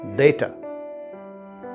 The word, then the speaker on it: data: जैसे DATA का उच्चारण हमेशा से डेटा डेटा ऐसा रहा है, लेकिन आज अगर आप देखेंगे ऑक्सफोर्ड एडवांस लर्नर्स डिक्शनरी तो उसमें DATA का उच्चारण आपको डेटा के अलावा डाटा भी मिलेगा, क्योंकि करोड़ों लोग डाटा कहते हैं उसको।